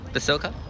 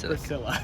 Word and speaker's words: Basilica: Saying it right, Basilica. Basilica, not Bracilla.